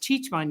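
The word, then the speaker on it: Cicmanec: Hispanic that's p-e-g-g-y last name is Czechoslovakian so it's c-i-c-m-a-n-e-c used to be pronounced chichman yet so I figured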